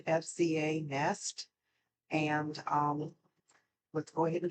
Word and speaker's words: FZANEST: The brand name is pronounced FZANEST, and let's go ahead and get started with them.